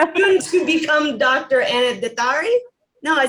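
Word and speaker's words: Détári: Yeah, so it's pronounced Dattari, but generally, I study in the UK, and I'm sort of just used to everyone pronouncing it as Dattari, and it's much easier for everyone, so I really don't mind it.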